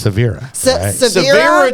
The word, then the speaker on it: Sevara: e v a r a and that's actually pronounced Severa tyone for the first part of this segment